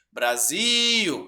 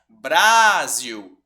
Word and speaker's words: Brasil: gente tiver dúvidas sobre qual que é a sílaba tônica a gente chama cachorro Brasil e não brázio né Natal e não Natal certo aí a